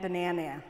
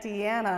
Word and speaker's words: Deanna: even pronounce my name he used to call me Aunt Dana so I'm actually proud that he said Aunt Deanna a couple times this